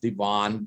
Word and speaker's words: D Ivan: The middle name is spelled like Ivan. It's pronounced Devon, but either way.